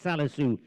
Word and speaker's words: Salisu: I keep on calling his name wrong. I beg your pardon. It's Salisu taking it forward now on the grey.